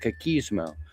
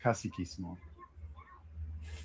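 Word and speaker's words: caciquismo: Elections were rigged through a system called kismo, which excluded workers and peasants entirely.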